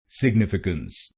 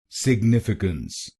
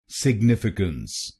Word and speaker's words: significance: पर आपका स्वागत है कुछ लोग इस शब्द को गलत प्रोनाउंस करते हैं जैसे सिग्निफिकेंट गलत क्यों है और इसकी सही प्रोनंसिएशन क्या है इसकी सही प्रोनंसिएशन है सिग्निफिकेंट सिग्निफिकेंट इस शब्द में चार शब्दांश है पहले शब्दांश को यानी एस आई जीी को बोलिए सिग सिग दूसरे शब्दांश को यानी